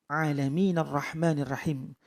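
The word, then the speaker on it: ٱلْعَٰلَمِينَ ٱلرَّحْمَٰنِ ٱلرَّحِيمِ: alhamdulillahirobbilalamin arrohmanirrohim seperti itu alamin arrohmanirrohim bukan rabbil aalamiina Abdurrahman tetapi orang bila Aimin arrahmanirrahim langsung menyambung ke Bertasbih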